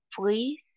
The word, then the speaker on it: pris: Oui, il y a le S, mais en général, on ne prononce pas le S à la fin, d'accord?